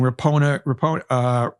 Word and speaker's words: Rapinoe: Olympic soccer champion Megan Rapinoe. It's Rapinoe. What am I talking about? Branca Chopper Jonas. I'm pronouncing all these names wrong.